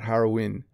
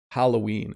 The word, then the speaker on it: Halloween: Japanese people pronounce the word Halloween in a hilarious way." Yeah, I can't pronounce that. Harawin. It's probably very challenging to say the double L.